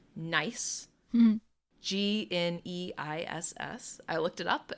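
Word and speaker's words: gneiss: a blue stone a type of stone called nice g-n-e-i-s-s i looked it up and for some reason instead of being pronounced like nice this is how i would say it it's pronounced nice and actually it's a kind of stone called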